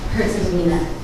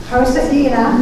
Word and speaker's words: Herzegovina: Herzegovina. Herzegovina and Rwanda.